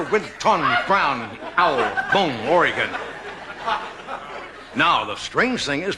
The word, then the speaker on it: Oregon: Did I pronounce it wrong? Yes. You always say... It's Oregon.